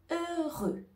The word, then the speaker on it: heureux: suivant c'est le mot heureux heureux ici on ne va pas prononcer le h au début du mot mot et on ne